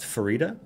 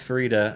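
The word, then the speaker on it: Farideh: it's yeah because he's rad is it it's pronounced Farida I was pronouncing it Faraday the whole time no it is so it is officially pronounced Farida at least according to Aaron em evidence who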